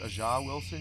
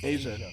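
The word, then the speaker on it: A'ja Wilson: I thought it was Aha Wilson. You said AJ. Asia. Asia like the continent.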